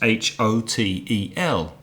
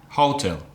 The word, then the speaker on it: hotel: with two syllables is H o te L now some Spanish speakers might pronounce that halter but we know the stress is on the second syllable so it's hotel Hotel